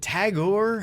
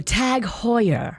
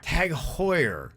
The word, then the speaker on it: TAG Heuer: you say is it tagore how do you say that watch oh tag heuer tag hoyer okay it's so fancy i